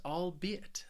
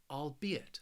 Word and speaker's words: albeit: the next word is albeit this word has three syllables and the stress is on that second syllable albeit albeit and this word